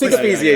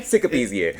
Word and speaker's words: Sikapizye: Sikapizye is good. Sikapizye? Sikapizye. Is it PZA or is it Pizye? Zye. Yeah. They call it Zye.